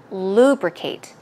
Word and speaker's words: lubricate: as the others do now lubricate here is distress codes right here on the first syllable lubricate lubricate so basically you're